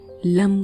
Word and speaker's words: लं: जीभ को तालू से लगाकर ल वर्ण का उच्चारण और दोनों होठों को मिलाकर म वर्ण का उच्चारण लंबे समय तक करना है।